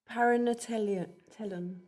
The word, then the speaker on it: paranatellon: Okay, so now we come to the great word which I invite Ginny to pronounce. Thanks. Paranatellon.